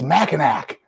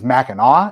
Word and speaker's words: Mackinac: it they'll be like it's Mackinac which no it's not it's Mackinaw and it's it's spelled Mackinac there's there's a place